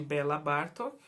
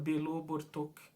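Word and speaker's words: Béla Bartók: por isso, aprendi que em vez de Bela Bartok, a pronúncia correta seria Belo Bartok.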